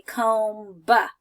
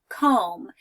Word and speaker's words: comb: to comb my hair when I say the word comb I don't say comb buh right I just say comb now if we were